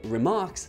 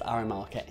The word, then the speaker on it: RMRK: messages are actually called remarks which leads to the actual name of this protocol remark it's not pronounced rmrk now this is all